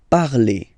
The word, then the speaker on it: parlez: Okay, remember a Z, when you combine them together, you get the sound E. Vous parlez.